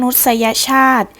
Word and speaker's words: มนุษยชาติ: ศีลธรรม และ กด ก็ หาย มนุษยชาติ อ่าน ว่า มนุษยชาติ หมาย ถึง จำพวก คน หรือ หมู่ มนุษย์ ศรีสัชนาลัย